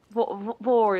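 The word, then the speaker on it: vore: Vor is, yeah, Vor that's a rhymes with gore, and that doesn't belong in dirtiness with me.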